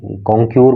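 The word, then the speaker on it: concur: वी कंकर, वी कंकर इसको पढ़ते हैं, कॉन्कर भी, कॉन्क्यूर बोल सकते हो, वैसे कंकर इसका प्रोनाउंसिएशन होता है।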